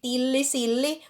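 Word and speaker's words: tillisilli: And then to make it even more confusing, during the Christmas time, I usually like the tilli silli, so it's double L both.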